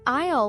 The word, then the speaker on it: aisle: And just a quick note for our listeners, the word isle is a little tricky. It's spelled a i l e, but the s is silent. So, we say isle like ale.